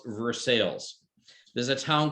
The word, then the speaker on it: Versailles: spelled by versailles like the palace but it's pronounced versailles there's a town called cairo it's spelled cairo